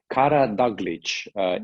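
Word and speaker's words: Karadaglić: And I think that the hard R's of the Scottish accent help because that is exactly how we pronounce it back home in Montenegro.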